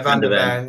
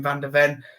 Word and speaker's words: van de Ven: I don't pronounce the same. Van de Ven. Yeah, Van de Ven.